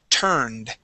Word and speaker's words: turned: Okay, now the word turned. Okay, remember, we want to go straight to the D sound.